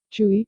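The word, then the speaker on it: 吹: Chui, pronounced like kui, with a forceful exhale, which is associated with the kidneys.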